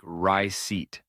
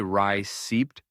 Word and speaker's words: receipt: Receipt is another word that doesn't follow the rules you might expect. The P is silent, so it sounds like ry seat. If you say ry seeped, you're adding an unnecessary sound.